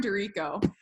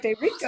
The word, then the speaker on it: D'Erico: It's Dorico. Yeah, which it definitely looks like D'Erico. Yes. D apostrophe Erico. So, and then you're like, D'Erico. It really throws people for a loop.